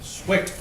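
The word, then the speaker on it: Cwiok: You pronounce his name Swick. C-W-I-O-K is spelleth Swick?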